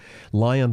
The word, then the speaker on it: LAION: Lion Disco 12M, Lion, by the way, is spelled Laion, with 12 million tracks,